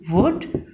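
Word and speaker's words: would: तो एल क्या होता है? साइलेंट होता है. एल को हम नहीं बोलते क्योंकि वो साइलेंट होता है, वो खामोश होता है. और ओ और यू को हम ओ में चेंज कर देते हैं. व उ ड वुड, य उ यू, र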